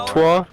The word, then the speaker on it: repertoire: Repertoire? Yeah, Thanks for they're keeping saying me they entertained. literally Will mispronounced it or it in nill the it, game.